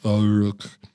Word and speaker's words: Ourcq: Ourcq. Your French pronunciation has gotten better over the summer.